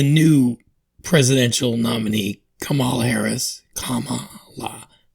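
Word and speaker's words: Kamala: Presidential nominee Kamal Harris Kama La they said to say it like a Kama and then law Harris who wasn't fully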